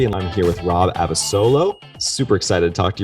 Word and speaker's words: Abasolo: to you man uh you pronounce my name correctly i get a lot of people that say abolo yeah i've heard them